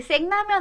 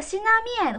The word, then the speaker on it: 신라면: 근데 이게 생라면 아니고 신라면이라는 발음이 맞습니다. 하우츠더 신라면. 그럼 해석해 보면 와, 하우츠더 신라면.